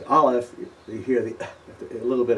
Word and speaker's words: aleph: is very similar to the pronunciation of aleph, but a little different. Those of you that know some of the African dialects will notice a certain similarity. Ayin is ayin, and aleph is aleph.